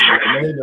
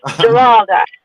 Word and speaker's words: Geralda: Okay, I got Miss Grenada up here in the building. How you doing, Miss Grenada? Grenada? I might be saying it wrong. Excuse me. It's Geralda.